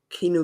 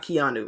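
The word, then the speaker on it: Keeanu: have gotten um uh Kino Benton um not Keanu I know I was mispronouncing the first name but yeah I know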